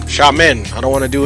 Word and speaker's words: Xiamen: how to pronounce it it's sha men xiamen i don't want to